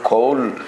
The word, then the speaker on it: Kohl: Col col. ¿Cómo se pronuncia?